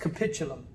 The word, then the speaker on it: capitulum: bond is the capitulum or the capitulum it's pronounced capitulum now the two bumps with the groove in